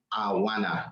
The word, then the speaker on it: Anwana: It's pronounced Anwana. The first N is silent.